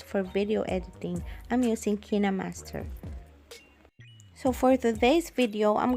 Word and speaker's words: KineMaster: headquarters in seoul korea some people pronounce it as kind master but i call it kinemaster because that's how the